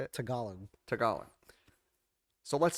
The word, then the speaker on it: Tagalog: tagala tagalong that's how you say it tagalon tagalog so let's say in that language chair has